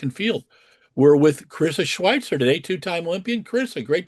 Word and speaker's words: Schweizer: No, it's actually my last name's pronounced with a T in it, but um Okay, cool.